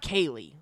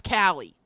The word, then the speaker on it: Kali: That's not Kaylee. That's Callie.